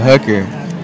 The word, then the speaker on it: Hooker: It's alright, Hooker. You have Hooker. Alright, Hooker by name. Mr. Brooke had a queer way of pronouncing his name without H and a long U.